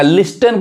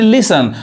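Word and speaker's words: listen: अब इस वर्ड में यहां टी साइलेंट है यानी लिसन पढ़ाए का लिस्टन पढ़ेंगे तो गलत हो जाएगा यानी लिसन अब यहां देखिए यहां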